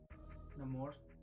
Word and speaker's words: Namor: Namor.